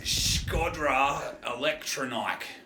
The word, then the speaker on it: Shkodra Elektronike: No, that's not how it's pronounced. Scodra Electronike.